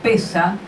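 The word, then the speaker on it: פסח: aclara esto verdad dice la palabra Pascua de que en latín se pronuncia pascae y en hebreo pesa significa paso es el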